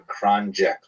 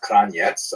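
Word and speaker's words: Kranjec: named after this person, Danielle Kranjek, also pronounced Kranjetz. I actually had to contact her to find out which pronunciation they use, but in America they tolerate Kranjek. At any rate, she actually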